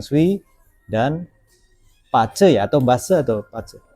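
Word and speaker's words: 八字: Nah, kita akan berbicara masalah Feng Shui dan Pace ya, atau Base atau Pace? Secara pelafalan secara internasional itu kita sebutnya Pace. Pace, oke. Pa itu adalah 8, Ce itu artinya karakter.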